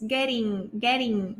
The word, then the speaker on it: getting: It's getting late. Fíjense que la T, el sonido de la T cuando está entre dos vocales, ¿sí? Generalmente en inglés americano se pronuncia como R. It's getting, ¿sí?